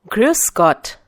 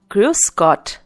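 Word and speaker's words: Grüß Gott: Gruscott. Once again, Gruscott.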